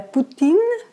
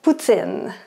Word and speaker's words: poutine: Donc, un Européen ou quelqu'un qui apprend le français va dire de la poutine. Mais au Québec, c'est de la poutine. Donc, la prononciation est très importante.